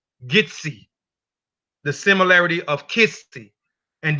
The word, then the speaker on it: Kissi: So they are attributing the word Kissi, the Kissi tribe, pronounce it as Gitsi, the similarity of Kissi.